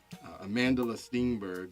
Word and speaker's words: Amandla Stenberg: Again, that's Amandla Stenberg.